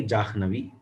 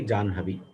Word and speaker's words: Jahnavi: Now, the scholars of the north, they go by Jahnavi. The scholars of the south, they go by Janhavi. Now, what is the pramana for the scholars of the south to pronounce Janhavi?